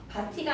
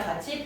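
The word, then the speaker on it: 밭이: 바티가 아니라 바치.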